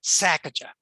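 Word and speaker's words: Sesachacha: And the person running the sanctuary there said, well, just think of it as a sneeze, Sacajah.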